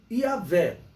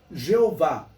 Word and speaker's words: Iavé: que ele seria pronunciado, a pronúncia mais aceita para ele é Iavé. E algumas traduções colocam como Jeová, mas a melhor pronúncia desse nome de Deus seria Iavé.